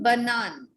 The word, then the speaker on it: banane: Ma'am, how to pronounce bananas? Une banane.